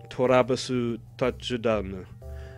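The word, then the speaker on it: トラヴィス・タッチダウン: And the way his name is pronounced in Japanese is Torabasu Tachudanu.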